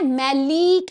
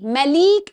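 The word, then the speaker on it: maleic: सिस है इसको बोलते हैं मैलिक acid. Look at the spelling M ए एल ई आई सी मैलिक acid.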